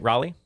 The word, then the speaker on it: Raleigh: Did I said it right? Raleigh? Raleigh, that's correct.